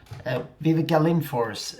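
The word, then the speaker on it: Viveca Lindfors: series and you have Vivica link Force Vivica linforce she's she's from Sweden that's the pronunciation there famous old actor from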